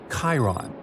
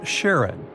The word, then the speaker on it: Charon: the most mysterious one, Chiron, also pronounced Charon. So you can pronounce it however you like. I'm going to go with Charon.